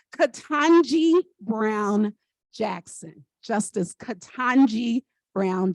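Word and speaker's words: Ketanji: people ask me how to say her name katanji Brown Jackson Justice katanji Brown Jackson this is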